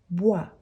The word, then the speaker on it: boit: tu bois il elle boit il elle boit attention la prononciation c'est la même mais on a avec s s t nous buvons nous buvons